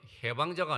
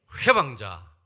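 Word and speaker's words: 훼방자: 발음 잘하세요. 해방자가 아니고 회방자. 우리 경상도 말로는 사투리가 있어요.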